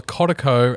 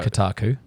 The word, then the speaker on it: Kotaku: skipping past all the codako and kotaku and uh kotaku that's how you pronounce it but yeah i know